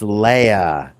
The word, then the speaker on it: Leia: Leah I don't know Princess Leah it's Leia everybody pronounces Leia the only person in the movies who doesn't say Leia is that one guy